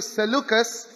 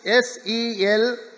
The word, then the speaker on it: Seleucus: The eastern one went to Seleucus, S-E-L-E-U-C-U-S, Seleucus.